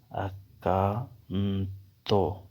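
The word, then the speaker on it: accanto: نے ضروری سمجھا کہ آپ کو ساتھ تھوڑا تلفظ بھی بتا دوں۔ اکانتو، نزدیک۔ تو اسے کیسے پڑھیں گے؟ اکانتو، اکانتو، اکانتو۔ تستارو، اکانتو، تمہارے ساتھ کھڑا رہوں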